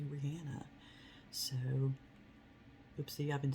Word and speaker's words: Rihanna: I found out the other day that her name is not pronounced Rihanna. It's actually Rihanna.